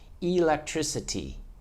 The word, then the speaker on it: electricity: Strong L, tree, sit, T. Electricity, 5 syllables, electricity. And that word has the K at the end of a word, still strong, electricity, still have to stop that K.